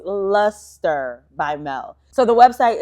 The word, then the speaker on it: Lustre: It's luster. I know luster is spelled l u s t e r.